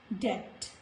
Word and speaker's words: debt: Now before letter T, in the words like debt, not debt, this is debt. Letter B is silent.